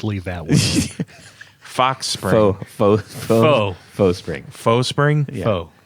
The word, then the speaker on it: faux: It's Why is it FOE? It's It's not. not. It's French. FAUX. Are you seeing FOE here? No, I meant that. Well, that's how you say it. Yes. Yes. Faux is French for false.